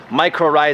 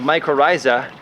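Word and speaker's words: mycorrhiza: or micro rise every everyone pronounce it differently microa is what I say it looks like this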